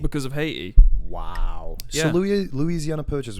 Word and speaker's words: Haiti: Haiti is not actually pronounced Haiti. How is it pronounced? It's actually technically pronounced Haiti. Haiti. The H is silent.